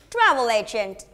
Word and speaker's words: travel agent: is repeat after me please travel agent okay just stress on the first word right travelation good now